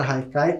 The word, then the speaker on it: haikai: como vocês podem ver a palavra Haikai como ela é de origem japonesa se escreve com h mas tem esse som de R e muitas vezes pode